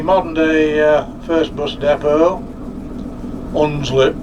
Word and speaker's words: Hunslet: So that's the modern day first bus depot, Hunslet Park. With a silent H.